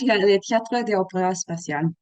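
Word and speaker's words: Théâtre D'opéra Spatial: called in French, le Théâtre des Opéras Spatiales. There we go. In proper French pronunciation.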